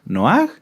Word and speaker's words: Noaj: ¿Quién se acuerda cómo era la pronunciación correcta de Noaj? ¿Noaj? No, era Noaj, ¿verdad?